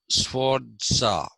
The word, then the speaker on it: Sforza: So he first identified the Sforza family, Sforza. Sforza is like you pronounce, you don't say pizza, you say pizza. Okay, like writing TZA, pizza, right? So Sforza.